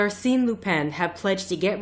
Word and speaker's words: Arsène: who like speaks French is it arene because I still want to say Aron but I'll go with what Watson's pronunciation is so arene Lupen have pledge to